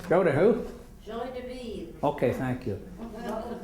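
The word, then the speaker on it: joie de vivre: How do you pronounce that? Joy de vivre. Joy de who? Joy de vivre.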